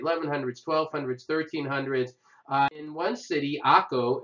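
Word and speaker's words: Acre: 1300s in one city Akko i know spelled a CR e but it's pronounced Saco they had this amazing for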